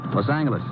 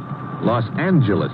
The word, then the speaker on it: Los Angeles: moved out to California Los Angeles correction Los Angeles huh yeah soft G it's official now so